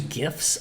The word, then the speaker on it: GIF: I use GIFs a lot. Is it GIFs or GIFs? I think it's GIF with a hard G.